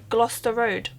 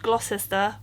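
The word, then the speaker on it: Gloucester Road: I'll tell you now it's pronounced gler Road not glosser or glester or anything like that um it's basically pronounced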